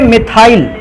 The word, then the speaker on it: मिथाइल: इस ग्रुप को कहते थे मिथाइल, एम से स्पेलिंग स्टार्ट होती है, और इस ग्रुप को कहते थे एथाइल, ई से स्पेलिंग स्टार्ट होती है।